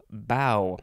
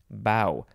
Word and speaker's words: bow: you think all right the first word is bow i have to be very careful because the pronunciations will go back and forth a lot